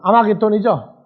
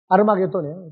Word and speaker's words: 아르마게돈: 근데 지금 전쟁이이 전쟁터가 지구상에 있는 전쟁터로 생각을 하면 큰 문제 그래서 717번 단어 예 717번 아마게돈이죠. 자 원 뭐로 되세요? 아르마게돈이죠. 아르마게돈이에요. 정확한 발음이라고. 그래서 히브리움으로 아르마게돈이라 하는 것으로 예.